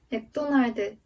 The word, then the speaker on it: 맥도날드: 예를 들면 일본에서는 마크도날드도 라고 발음하는데 한국에서는 맥도날드 라고 발음합니다.